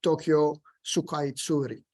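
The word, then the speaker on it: 東京スカイツリー: get the kanji and the katakana, which is pronounced Tokyo Sukaitsuri.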